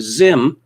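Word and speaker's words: Zzyym: gender by picking either male or female z-ism pronounced zim yes of course it's pronounced zim so why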